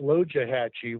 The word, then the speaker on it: Loxahatchee: want to mention that loxahatchee really should be pronounced low jahachi which means turtle river that's the pronunciation there was a reference